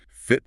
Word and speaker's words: fit: Fit as a fiddle. Notice the short I sound. It's not feet, it's fit.